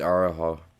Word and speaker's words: Araujo: Tracy Cortez versus Araujo.